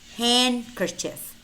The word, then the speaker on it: handkerchief: it's always spelled D however we do have words which contain the letter D but it's silent as in hand kerchief handkerchief Wednesday Wednesday handsome handsome ma'am ma'am I said yes